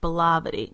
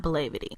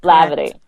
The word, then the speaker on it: Blavity: It's pronounced Blavity, not Blavity. Blavity. Perfect. So it's like black and gravity together.